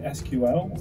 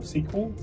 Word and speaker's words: SQL: My top one is learning SQL, or SQL, as some people pronounce it.